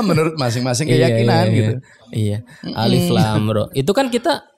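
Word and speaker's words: الر: Itu kan kita dari mana kita bisa tahu itu dibaca Alif Lam Ra? Iya. Kecuali kita dengar dari guru kita. Kalau orang nggak dengar dari guru, dia baca bukan Alif Lam Ra. Persis. Bacanya ular.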